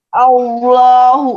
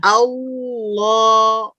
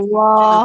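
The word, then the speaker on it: الله: Allah. Nah, itu jadi tipis lo-nya. Ya. Iya. Jadi pas al-nya Allah. tebal, pas lo-nya masih ditahan pangkalnya. Allah. Allahu akbar, begitu.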